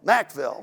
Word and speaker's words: Mackville: um city of mackeville is it mackville or mcveil mackville right okay i think they did